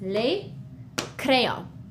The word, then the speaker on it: les crayons: As you can see, the S is, we don't pronounce it. We write it, we see it when we read it, but it's just les crayons.